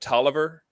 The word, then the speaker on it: Taliaferro: It's spelled Taliaferro, which may be French. Some people call it Tolliver. I've always called it Taliaferro.